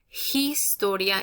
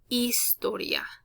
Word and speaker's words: historia: very often so again h is always silent it's like if it's never there so if i read this to you it's not going to be historia it's going to be istoria okay right h is